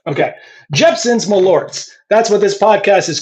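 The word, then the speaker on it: Jeppson's Malört: Rick just gave me a bottle of this Jeepson's. I'm I'm saying it right. Right. Malorts. Correct. Okay. Jeepson's Malorts.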